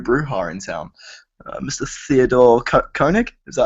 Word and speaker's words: Koenig: Theodore Koenig. Is that how you pronounce that?